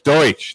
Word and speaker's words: Deutsch: if that counts boosh no it's deutsch they pronounce it it's not called doucheland mildly aggressive ginger like